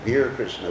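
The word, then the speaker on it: Bir Krishna: Krishna not be actually he gave the name be Krishna which is the Bala sized pronunciation of Vira Vera means like heroic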